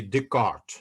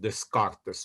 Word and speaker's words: Descartes: but when you know s is not pronounced in modern french so we now you uh say descartes not descartes okay uh but the